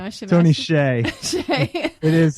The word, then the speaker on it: Hsieh: Hsieh.